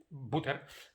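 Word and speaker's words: Buettner: En Dan Butter, s'escriu Butter, en Butter, com mantega, no sé, va crear un diagrama per explicar, es pronuncia com mantega, no s'escriu com mantega, no ens liem.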